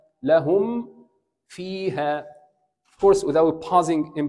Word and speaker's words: لهم فيها: الصواب لهم فيها، انهي الميم وبعدين ابدا الفاء. How to say this two words together؟ لهم فيها، لهم فيها.